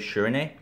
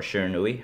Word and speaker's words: Shiranui: event this weekend and I decided to take shernay or Shiranui however you want to pronounce it so it is the ninja way